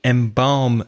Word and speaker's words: embalm: in some cultures to embalm the body embalmed EMBA L M M balsam R so that L is silent yeah in bomb and